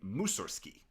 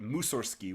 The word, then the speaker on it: Mussorgsky: of his life, it was simply Mussorgsky, no G.